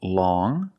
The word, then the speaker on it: long: has five different pronunciations first we see long with the sound m which is a nasal sound long but then you have